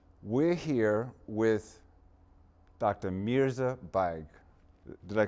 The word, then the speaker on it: Baig: Mirza Baig. Did I pronounce that correctly, Yes.